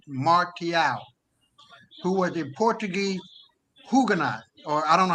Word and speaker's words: Huguenot: back to Nicolas Martial, who was a Portuguese Huguenot, or I don't know how you pronounce it. Huguenot, you said it right. Yeah. Huguenot. Yeah, Huguenot.